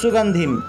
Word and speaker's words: সুগন্ধিম: তাই কি এভাবে উচ্চারণ হবে সুগন্ধিম, উচ্চারণ হবে সুগন্ধিম। অনুস্বারের পরিবর্তে ম উচ্চারিত হবে, সুগন্ধিম।